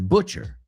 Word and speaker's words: butcher: Here's one that a lot of people mispronounce. Carnicero. I've heard people say butcher. It's not butcher, it's butcher. Ashton Kutcher used to be a butcher.